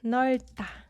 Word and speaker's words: 넓다: This is pronounced like 넓다.